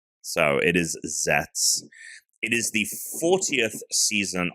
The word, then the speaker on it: Zeztz: Um, so let's get into talking about zets. Let's go over some some top level stuff here. So it's common rider zets. It's spelled ztz, but the middle z is silent. So it is zets.